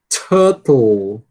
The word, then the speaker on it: turtle: mas que é um bom exercício para você tentar ver se você consegue dizer esse rã depois de um rã. Uma sequência bastante desafiadora para nós brasileiros.